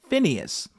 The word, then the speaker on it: Phineas: included the story of fahas some pronounce his name as Finas but we'll go with FAS for now um um just just